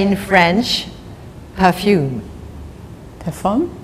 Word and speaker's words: parfum: Parfum? Parfum.